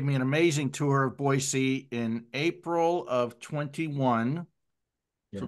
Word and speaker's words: Boise: right Terry is right it is actually pronounced with an S not a z so I mean most people say Boise but it's actually an S so it's boyy boyy yeah so um